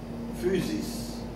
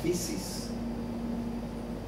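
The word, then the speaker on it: φύσις: milos es la naturaleza naturaleza se dice en griego fusis o en español pronunciada la española fisis por lo tanto la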